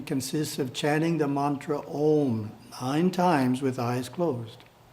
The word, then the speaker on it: Om: must be pronounced correctly the first syllable is pronounced ah the second syllable is pronounced whew the third syllable is pronounced mmm with the front teeth gently touching in the process each